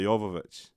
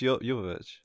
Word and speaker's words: Jovovich: actual story, is Milla Jovovich. How you say it? It's Jovovich. That's how it's spelled. I just don't say it. I know. I used to say Djokovic, but I think I'm saying it wrong.